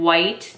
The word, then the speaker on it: Wight: it's by the brand white tea company but it's spelled w-i-g-h-t so like white as like maybe a last name or something not like white tea the tea type but it says a